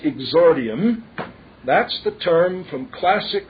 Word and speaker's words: exordium: e ex o r di i u m pronounced exordium i g z r di IU n that would be a phonetic rendering of it e ex o r di IU M pronounced exordium that's the term from classic rhetoric that is